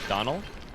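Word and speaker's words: Domhnall: but Dom Hall's last name is actually pronounced like Donald without the last D. Donald. The MH is silent.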